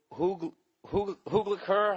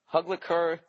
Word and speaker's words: Hugleikur: It's just search I Hate Dolphins, and the comedian's name it's Hugliker. I don't know, Hugliker Dogson, and it's spelled Hugleikur, and his last name is Dagson.